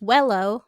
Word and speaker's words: Huelo: My beloved grandfather, who we called Huelo, pronounced Wello like Jello.